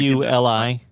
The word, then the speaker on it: Iuli: Yeah, it's Iuli. Definitely don't know how to spell it. IULI.